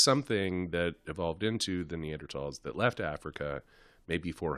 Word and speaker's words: Neanderthal: it's called Neanderthal but because it spelled with a th people say Neanderthal yeah so what is